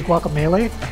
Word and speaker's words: Guacamelee: Okay, this is well, okay, the actual pronunciation is supposed to be Guacamelee, Okay. but I'm going to pronounce it Guacamelee because I spent many years playing Dungeons and Dragons without anybody actually telling me that melee was pronounced melee, so I'm just going to keep pronouncing it melee.